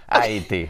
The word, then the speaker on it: äiti: ago, it was like, aiti day. Yeah. Oh, okay, did I say it right? Aiti. Yeah, aiti. Aiti.